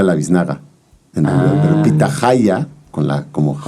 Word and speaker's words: pitahaya: Ahí hay una cosa de la pronunciación, porque depende de dónde estén del país. Si tú estás en el norte, ¿no? Como Sinaloa, saludos a todos mis primos sinaloenses. Pitaya, allá se le dice a la biznaga.